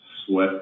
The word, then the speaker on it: Swett: Sweat, but it's spelled SWETT.